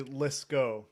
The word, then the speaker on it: Liscow: You would think from the way it's spelled, it's actually Liscow, which Liscow. Okay, sorry, Liscow. Yeah, the W is just there to mess with people.